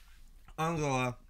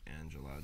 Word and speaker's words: Angela: heard about Angela Merkel I'll go up being the German way to pronounce Angela mm-hmm just to clarify that in case we accidentally say Angela during the Senate yeah I'm Merkel being